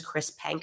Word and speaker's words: Chris Penk: which I want to say his name is Chris Penk. I want to get that right, actually, if you just bear with me. I do want to just thank him. Minister, it's Chris Penk. Okay, perfect. Chris Penk basically said, we're reversing this ban.